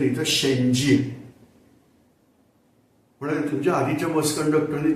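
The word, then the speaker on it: செஞ்சி: या म्हटलं बस मध्ये सो किल्ल्याच नाव आपण जिंजी म्हणतो स्पेलिंग प्रमाणे जी आय एन जी डबल वगैरे करतात प्रत्यक्ष तामिळनाडूत जर गेलात तर इथं या शब्दाचा उच्चार केला जातो शेंजी आता तुम्हाला कल्पना आली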